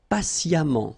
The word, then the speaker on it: patiemment: Patient, and then patiemment. So as I told you, even if you write it E-M-M-E-N-T, phonetically it goes like amant, patiemment.